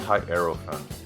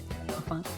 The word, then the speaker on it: Hierophant: I've heard it pronounced high arrow fan. Is it just like Hierophant? is it just Yeah. Hierophant? Yeah. Yeah. Hierophant.